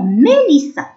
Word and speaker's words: Mélissa: مي ام مع اي اكسون او اكسون مي. ال مع اي لي. دوز اس ا كأننا الاس هذاك حطينا فوقو الشدة سا.